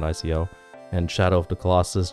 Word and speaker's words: Ico: and 102 um Eco I think it's pronounced Eco not Ico and Shadow of the